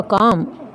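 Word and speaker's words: calm: है antonym first होगा काम सीधे लव इसमें एंड साइलेंट रहेगा काम होता है शांत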